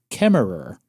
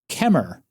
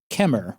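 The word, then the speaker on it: Kemmerer: Apparently, chem is pronounced kemer. The e r is silent on the end. Wow. So, it's just kemer, which makes zero sense, but I'm going to trust the locals on this one.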